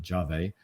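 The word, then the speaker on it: Yave: our startup competition um y or jave not yav it's it's sped y a ve but apparently pronounced jave um and this is a basically um embedded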